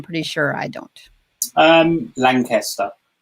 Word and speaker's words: Lankester: sure i don't um lancaster lancaster yeah somebody in my family tree can spell obviously so it should be lanky and the reason that